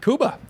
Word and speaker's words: Cuba: Cuba. That's how you pronounce his name.